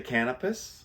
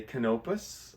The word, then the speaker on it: Canopus: Some people say Canopus. Yeah. Other people say Canopus. I think either one. I've actually heard the Canopus people say both.